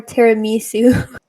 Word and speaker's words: tiramisu: Tiramisu or tiramisu? No, it's tiramisu. Tiramisu. No. I'm pronouncing the I as an E.